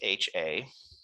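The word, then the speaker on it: Hₐ: And that's HA. So it's pronounced HA.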